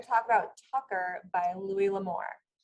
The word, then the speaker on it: Louis L'Amour: We're going to talk about Tucker by Louis L'Amour. Did I get it right, Andrea? Yes.